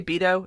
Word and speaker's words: Beto: surprise beta or orc which I'm pronouncing at bado some people say Beto some people say beta oh I'm going with bado because no matter what